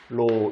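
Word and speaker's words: โล: 예, 이게 발음이 로, 이게 바로 뭐의 뜻이라고요?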